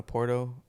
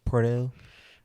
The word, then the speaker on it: Porto: Porto, Yeah, but I don't know how to not say it like that. roll your tongue, bitch. I don't think you rolled R.